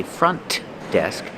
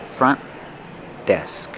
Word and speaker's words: front desk: Do not release the sound. Don't say front desk, but front desk. Link the sounds.